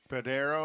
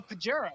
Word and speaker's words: Pajero: Padero. Oh, Pajero.